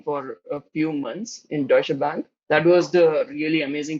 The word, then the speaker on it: Deutsche Bank: working there okay so initially I pronounced it very bad uh it's Deutsche Bank what what the company is actually known yeah yeah but yeah that's that's uh something which everybody people's pronounce it differently but I think that's